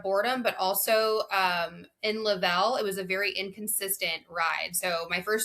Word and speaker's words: Level: Lavel. L E V E L, right? It's like level but Lavel.